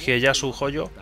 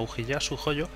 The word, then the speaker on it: Ujiyasu Hojo: Sin saber qué estaba pasando por la cabeza de Kotaro Fuma, Hieyasu Hojo, voy a intentar decirlo bien, Ujiyasu, aunque la pronunciación sea de otra forma, pero Ujiyasu Hojo, fue al castillo de Shou Chun y conversación.